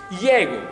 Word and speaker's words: ego: del venetico, in realtà il termine ego non era letto ego, ma era letto in maniera russa, come si legge in russo adesso, Iego, che vuol dire lui.